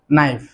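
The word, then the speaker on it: knife: চাকুর ইংরেজি কিন্তু নাইফ। বানানটার দিকে একটু খেয়াল রাখতে হবে। প্রথমের কেটা কিন্তু সাইলেন্ট কে। কের উচ্চারণ হবে না, উচ্চারণ হবে নাইফ।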